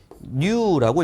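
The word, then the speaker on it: ν: 동점성계수는 스몰 v처럼 이렇게 써요. 근데 읽을 때는 얘를 뉴라고 읽어요.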